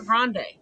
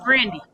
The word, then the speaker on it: Grande: pronouncing people's names properly it was never grande it's granny just like chrissy teigen